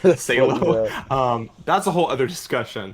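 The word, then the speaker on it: Salò: If you watch my original Sallow video where I mispronounced the title, Salo, that's a whole other discussion.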